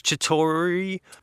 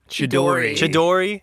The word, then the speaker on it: Chidori: edgy demeanor and his chatori Chidori there we go I'm gonna mispronounce a